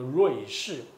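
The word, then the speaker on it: 瑞士: 说台语，其实那个字念作碎嘛，就是他本来念这个，可是我们现在都念作瑞士。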